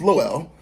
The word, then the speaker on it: Lowell: It's pronounced Lowell, like Noel. Her name is Noel, like Lowell.